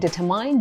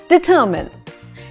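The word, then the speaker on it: determine: एन E people are still saying डिटरमाइंड डिटरमाइंड डिटरमाइंड इट्स डिटरमिन डी ई टी ई आर एम आई एन ई इज डिटरमिन डिटरमिनेशन डिटरमिन अगर कोई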